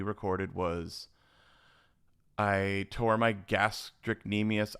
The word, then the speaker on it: gastrocnemius: Okay, so the last episode we recorded was I tore my gastrocnemius. I probably pronounced that wrong. Mm, Gastroc or gastro. It's GASTROCNEMIUS. okay.